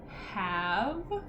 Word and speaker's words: have: Okay, orange, underline, have. Have is a first grade word. One of our ones that has that silent E at the end.